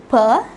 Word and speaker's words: peut: Je peux, tu peux, il peut, elle peut. All these four words are pronounced the same.